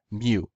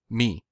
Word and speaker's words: mu: was something close to Moo or moo exactly in Co Greek it was pronounced mu in modern Greek it's pronounced me moo likely came came